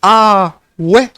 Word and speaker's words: awe: Awe, or just awe, pronounced ah-we, said in excitement.